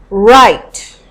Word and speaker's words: write: Write. Write. So, the V is silent.